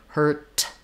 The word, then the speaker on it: hurt: don't necessarily say herd hurt I say just heard hurt where the vowel is going to be shorter and hurt than it is in heard um so complicated answer